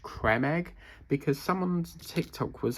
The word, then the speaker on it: Creme Egg: You know, for years we've all been saying cream egg. It's actually pronounced creme egg because someone's Tik Tok was actually pointing out that it doesn't actually spell cream. It's creme.